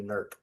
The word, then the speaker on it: Newark: a long time is you didn't say NERC. That's right. NERC. I'm a lifelong Ohioan, so I'm familiar with the pronunciation of most of our cities.